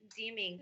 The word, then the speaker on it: Deeming: And then before we were talking about Frederick Deeming, right? Is that how you say it? That's correct.